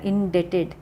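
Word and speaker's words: indebted: इन डेटेड ठीक है इसमें बी साइलेंट है तो आएगा इन डेटेड मतलब ऋणी होना आई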